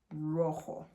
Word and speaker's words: rojo: So the J will make the H sound. So this is pronounced rojo, like that, okay?